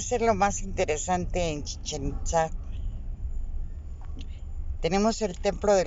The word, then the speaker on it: Chichén: en el estado de Yucatán en maya se pronuncia Chichén boca del pozo de los Brujos del agua